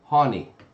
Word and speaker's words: Hani: live in good years pronounced like ha knee Hani honey oh that's been